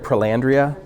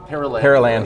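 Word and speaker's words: Perelandra: And then I really love, am I saying it right, Paralandria? Paralandra.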